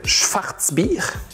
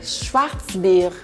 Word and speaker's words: Schwarzbier: On va boire une Schwarzbier. Je m'excuse ma prononciation. Non, c'est parfait. Schwarzbier.